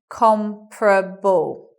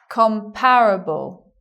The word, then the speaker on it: comparable: words okay it becomes you anticipate comparable you anticipate four syllables but you get three comparable with a stress on the first so the stress being on the first this second second vowel disappears there a listener of schwa after the first stressed syllable so we don't want it anymore bye-bye and that's why we get comm probe ball but you will also sometimes hear people say comparable you will also sometimes